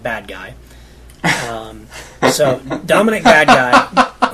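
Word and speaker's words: Badguy: Jes his name is Dominic badgi although it's spelled bad guy um so Dominic bad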